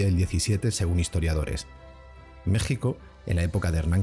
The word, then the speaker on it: México: Bien, ya conocemos el origen del fonema J y también sabemos que los primeros españoles escribían México con X, pero lo pronunciaban como SH, México, y que al combinarse